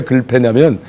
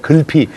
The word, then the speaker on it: 글피: 왜 글패냐면 이분이 내일 모레 글피, 이 글피를 발음을 꼭 글패 이렇게 발음해요.